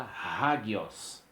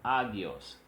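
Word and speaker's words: ἅγιος: Então, na hora de se traduzir, se traduz com o H e se pronuncia hagios. Hagios e não agios.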